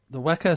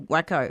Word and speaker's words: WACA: And so the proceeds to that is going to WACO, right? To pay their fees? Waca, yeah. WACO, is that how you pronounce it?